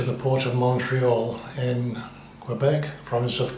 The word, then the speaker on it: Quebec: port of Montreal in Quebec province of Quebec in Canada French Canadians say Quebec not Quebec um yes so anyway